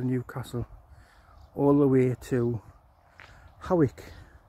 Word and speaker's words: Hawick: It runs from Ponteland, which is north of Newcastle, all the way to Hawick, which is spelt Hoyk.